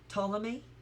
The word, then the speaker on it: Ptolemy: Like, what's another word where the P is silent? Ptolemy or Ptolemy?